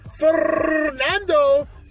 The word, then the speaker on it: Fernando: You gotta roll your tongue. Fernando.